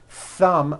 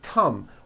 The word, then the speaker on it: thumb: tea or an S so instead of saying a word like thumb my thumb which this is and notice how my tongue is coming out my thumb you've been saying come my tum aur mai som and your tongue is not coming out that is not correct if you make mistakes